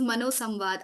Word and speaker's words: ManoSamvaada: It is the correct pronunciation is ManoSamvaada.